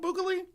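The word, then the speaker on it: Bukele: like do you have any strong feelings on boal and boal yeah he's um uh El Salvador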